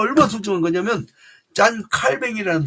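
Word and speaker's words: Calvin: 내가 교회에 속해 있다는 게 얼마나 소중한 거냐면 짠 칼뱅이라는 사람이 있어요. 영어식 발음 존 칼빈이 짠 칼뱅이 뭐라고 하시냐면 하나님께서 아버지가 되시는 자들에게는 그러니까 하나님이 아버지가 되는 사람들에게는 우리가 하나님을 아버지라고 고백하죠.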